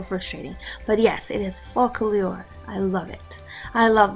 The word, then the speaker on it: Focallure: Focallure, I always call it like follicule. Oh my gosh, I always mix the C and the L all the time. It's so frustrating. But yes, it is Focallure.